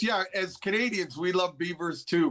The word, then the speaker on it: Belvoir: Belvoir Castle, as you pronounce it, Andy, pronounced Beaver. Okay. Beaver Castle, which is great